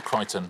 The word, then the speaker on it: Crichton: uh yeah pronounced michael crichton but uh yeah it was close enough and kristen wasn't quite close enough for me i'm afraid it was uh it's uh that c in the middle making all the difference